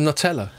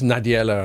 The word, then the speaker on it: Nadella: You call him Nutella? Is that a joke, or did you just mispronounce it? Because I think that's quite funny. I just mispronounced it. It's Nadiella, I think.